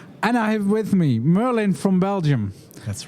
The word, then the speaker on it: Merlijn: your last name for you just try and pronounce my my first name that's that's hard enough yeah Merlin yeah yeah that's better that's better it's it's